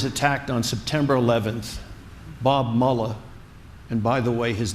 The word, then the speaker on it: Mueller: when America was attacked on September 11th Bob Muller and by the way his name is MAA not muula he's not a Nazi you may have your